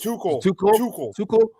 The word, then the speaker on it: Tuchel: I'm sorry, but how do you pronounce the coach's name? Tuchel is Tuchel.